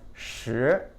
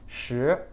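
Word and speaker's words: 十: like a stone and stone and the number 10 sound exactly the same in Mandarin sure sure sure that said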